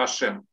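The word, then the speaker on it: השם: И читается это точно так же, как и вот это. Читается это «Ашем».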